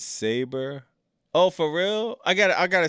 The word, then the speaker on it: Sabre: No, well, Zach Sabry, man. Family Comments said Bobby Knight. Yo, that's fire. Jay Bucket said, remember he's English, Bobby, so he pronounces saber.